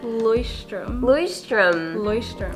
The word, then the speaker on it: Leuchtturm: Leuchtturm.